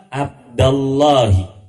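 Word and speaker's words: عبدَ اللهِ: nanti hukumnya lain lagi manggilnya ya abdallahi Insyaallah ada pelajarannya berikutnyaam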